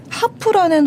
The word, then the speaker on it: HAARP: 여기 나오는 그 하프가 HAARP예요. 하이 프리퀀시 액티브 오로라 리서치 프로그램의 준말로 하프입니다. 네, 한국적인 발음으로 친절하죠.